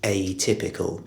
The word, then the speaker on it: atypical: of the word, because the stress on the initial syllable is really important. It's atypical.